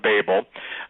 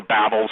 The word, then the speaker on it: Babel: Chris Putnam, Steve Quayle, Tom Horn are right back at the Tower of Babel, or Babel. Some people pronounce it one way, some pronounce it the other.